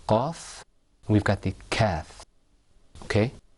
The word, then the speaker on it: ك: We've got the qaf and we've got the kath. Okay? When you pronounce the kath, you pull the corners of your mouth back. You go like this.